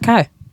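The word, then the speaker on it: Khy: is k h y you think that's pronounced Kai yeah probably probably but is in their Kai Collective so would it make sense to call it Kai who's Kai Collective oh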